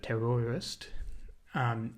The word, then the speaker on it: terroirist: The terroirist, not terrorist, but terroirist, is, the word comes from